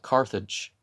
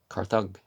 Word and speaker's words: Carthage: a latin pronunciation right which means the g is not said in the karthik not carthage karthug you know um you know you don't say it as a j was hundreds of years